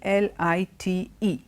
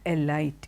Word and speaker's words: elite: the next word e el ite now this were very very commonly mispronounced perhaps because it is similar to a popular brand of for bread it is not a light it is elite and elite means people